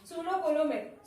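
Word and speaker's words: pseudocoelomate: ठीक है, इसका प्रोनाउंसिएशन देखना, पी यहाँ पे साइलेंट है जिसको बोला जाता है सूडोकोलोमेट।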